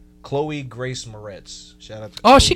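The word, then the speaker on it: Chloë Grace Moretz: Chloe Grace Moretz.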